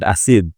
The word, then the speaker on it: Asiegbu: Did I pronounce about Asiegbu?